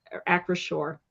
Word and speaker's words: Acrisure: Like I can't pronounce that word. Acrisure.